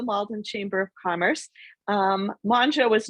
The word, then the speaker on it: Mongeau: director of the malden chamber of commerce um manja was not an easy name to pronounce so i appreciate you're handing the mic